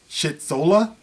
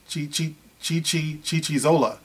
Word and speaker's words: Chichizola: And it's by, who is this, Corey Shitzola? Is that how you pronounce that? Chichizola.